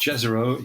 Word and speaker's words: Jezero: And it's a place, and I think it's pronounced Jezero. It could be Jezero, but I think it's Jezero.